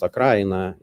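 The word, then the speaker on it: Украина: So I would say that also when we say Ukraine, the word Ukraine in Russia means it is pronounced Akraina, derives from this word.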